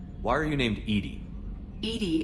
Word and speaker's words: EDI: are you named Edie Edie is the phonetic pronunciation of EDI that is an acronym for enhanced defense intelligence let's discuss something else